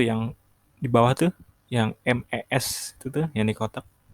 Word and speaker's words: mes: Nah, itu yang di bawah tuh, yang MES itu tuh, yang di kotak. Bacanya me. Me parents, artinya orang tua saya. Nah, untuk menunjukkan kepunyaan, le itu diganti menjadi me. Oke. MES, tapi bacanya me.